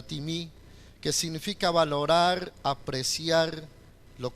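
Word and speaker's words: τιμή: Para los que están tomando nota, timí, se escribe timé, suena timí, que significa valorar, apreciar lo que es la otra persona.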